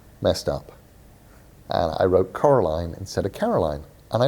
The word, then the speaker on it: Coraline: her name wrong and they all call her caroline and nobody notices that it's actually coraline thank you guys those